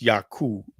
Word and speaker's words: Yaku: you see there, Yaku, it's pronounced Yaku, the U sound. And they use a lot of I-E-I-O-U, like the U sound in Japan is very similar to the U sounds in Spanish.